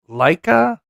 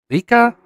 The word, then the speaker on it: Leica: Farro, F A R O, uh or uh Leica. Probably pronouncing it wrong. It's L E I C K C A, not CK. Uh, Leica, Leica, L E I C A.